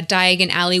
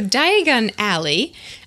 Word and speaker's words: Diagon Alley: yeah cool yeah so diagon alley um if you say it uh fast or with the emphasis on the other syllable it sounds like diagonally oh of course of course yes diagon alley diagonally which is appropriate